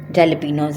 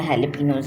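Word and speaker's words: jalapeño: हम डालेंगे, जैसे कि जैलेपिनोज हैं, हैलेपिनोज हैं, जो दिल चाहे बोलें। ठीक है, मुझे तो जैलेपिनो ही मुंह में आता है, जबकि इसका सही प्रोनाउंसिएशन हैलेपिनो है।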